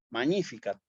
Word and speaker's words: magnificat: Si yo ya hubiera entrado, me pueden poner 400 palabras que tengan GN y siempre las voy a pronunciar como ñ, magnificat, magnus, magna, ¿sí?